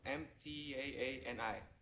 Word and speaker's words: Mtaani: It's called the Mtani. Am I pronouncing it right? Which one? Mtaani.